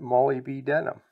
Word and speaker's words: molybdenum: The other compound that was in the fertilizer but wasn't listed in the banana is something called molybdenum. Or if you want to remember how to spell it, pronounce it molybdenum.